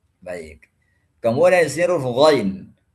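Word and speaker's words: غ: Kemudian di sini huruf ghain. Huruf ghain ini kebanyakan saya temukan itu membacanya dengan ga, gairil. Ini nggak boleh baca gairil. Karena dia sifatnya tebal.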